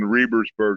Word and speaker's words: Rebersburg: And is it Rebsburg or Rebersburg? How do you pronounce that? The event is held in Rebersburg.